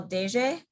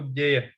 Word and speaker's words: deje: Deje means like, there's like when you pronounce it, there's like a way that you pronounce the D, like it's like a D. Like soft version of D.